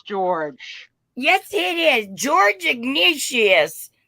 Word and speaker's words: Ignatius: yes it is George Ignatius I think it might be pronounced Ignatius but okay let's allow for